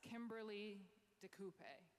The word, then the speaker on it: Kimberly DeCoupe: It's Kimberly DeCoupe.